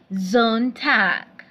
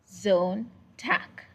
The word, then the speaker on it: Sonntag: Sonntag. So Sonntag means Sunday. So if you want to say on Sunday, you say am Sonntag. Am Sonntag. The S is pronounced as Z.